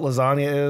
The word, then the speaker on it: lasagna: I don't know what lasagna is it sounds real cheese that means layered and full of cheese because the G in the word is silent you don't know the